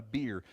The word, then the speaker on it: bier: There's this village called Nain, and there's a dead person out on a bier. Bier, it's a homophone. It's pronounced like beer, the drink, but it's B-I-E-R.